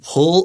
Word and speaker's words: pull: Some students think pull is really hard to say. Pull. Listen, it just sounds like the word apple. If you can say apple, you can say pull.